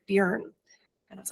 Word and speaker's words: Björn: And he's the one who told me I was pronouncing your name wrong and I needed to say Björn.